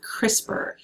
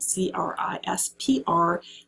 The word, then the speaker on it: CRISPR: really really cutting edge of biotechnology is called crispr and that's how you pronounce that word c-r-i-s-p-r the term is crispr and it's a it's